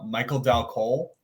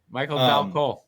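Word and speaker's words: Michael Dal Colle: I have actually all the way back from 2014, Michael Dal Cole. Did I say that right? Michael Dal Cole. Yeah. Yeah. Wow. See, fuck you, Vogel. I can do it sometimes. He said it right.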